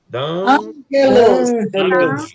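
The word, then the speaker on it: ἄγγελος: Ângelos.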